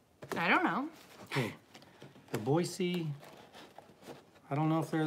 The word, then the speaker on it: Boise: It's Boise. Adair knows. That's right, Adair. Oh, hi, Adair. A Boise. Boise. Yeah, thank you. This is fun. Home of, are they the Broncos? I don't know. Okay. The Boise, I don't know if they're the Broncos or